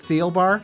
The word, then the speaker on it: Thielbar: Is it Theobbar? It is. Great. Good. So, I have not been mispronouncing your name to all my friends.